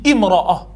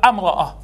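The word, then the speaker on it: امرأة: Parce qu'on dit imra'a, mais on ne dit pas amra'a.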